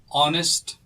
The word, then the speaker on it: honest: So, honest woman. Now, pay particular attention to the word honest. Honest is pronounced with an O in the beginning.